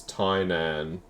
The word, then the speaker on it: Tynan: Tynan as in Titan. Ah. Alrighty, well there you go. Thank you. It's Tynan.